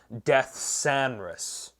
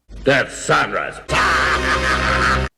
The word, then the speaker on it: Deathsaurus: the haslab death sarus or excuse me sorry it's pronounced death sanus death sanus and yeah there's the